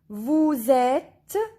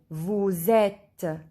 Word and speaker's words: Vous êtes: Vous êtes. Here S. When we join S to E, we listen Z. Vous êtes.